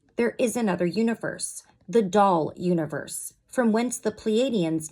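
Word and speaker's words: Daal: origin of the Dolphins it is doll as you would spell it and it was translated into your present verbiage as dolphin it is a doll with fins so that's capital D and then a a l there is much wisdom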